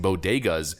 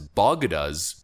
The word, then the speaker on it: bodegas: the first fail was mispronouncing bodegas as bagadas as distinct ing the